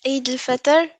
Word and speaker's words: Eid al-Fitr: Yes, Eid al-Fitr.